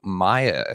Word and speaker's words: Maia: talk about this today please everybody Welcome Maya is that is that pronounced correctly yeah yeah you did it you